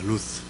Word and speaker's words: 룻: 여러분 이 룻기를 룻을 정확하게 발음하면 이게 룻이 아니고 루스입니다. 루스.